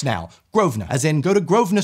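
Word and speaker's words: Grosvenor: in character for me I heard her pronounce it correctly and went what do you mean groa did you mean gross venor what it's not there's an S that's silent yeah if a British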